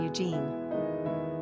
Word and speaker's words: Eugene: Quick facts on Eugene. Gender, boy. Origin, English. Number of syllables, 2.